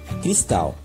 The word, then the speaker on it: cristal: nosso poema, a palavra chaminé e a palavra cristal. Perceba que quando nós pronunciamos essas palavras, nós damos mais ênfase, nós colocamos mais intensidade de uma sílaba de cada uma delas.